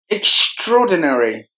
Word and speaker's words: extraordinary: middle syllable religion extraordinary extraordinary there are five syllables in this word and we have to give more volume to the second syllable straw extraordinary the lettuce A and R are silent thank you extraordinary saying